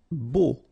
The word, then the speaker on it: beau: Beau. Okay, so remember we've got this strange combination of vowels, a, u, so three vowels, but then phonetically it's only o. Okay, so beau. Grillé.